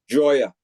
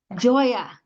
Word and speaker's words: Gioia: spelled a little different Joya it's a funky spelling it's a sicilian spelling so it's it is a little different g i o i a correct Joya got it okay cool